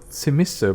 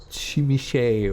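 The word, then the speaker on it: Tzimisce: And it's a Tzimiske bloodline, or Chimiche, or Tzimiske, however you want to pronounce it, like the Sabbat clan.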